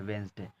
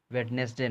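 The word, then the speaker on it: Wednesday: तो यही है, थोड़ा कैमरा तो ख़राब है, तो ये है वेंसडे, वेडनेसडे नहीं।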